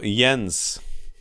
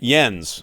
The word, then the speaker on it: Jens: amusing he says to just say it like the word yes but with an n before the s just like i'm going